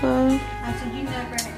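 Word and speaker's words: phở: It's pronounced pho, guys, just FYI.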